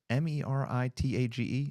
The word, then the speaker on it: Meritage: wines for sure so this is called a mirage spell it m-e-r-i-t-a-g-e is that right Meritage Meritage Mirage you say Mirage I say Meritage you say potato I